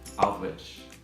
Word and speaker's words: Aldwych: And it's actually pronounced Aldwych.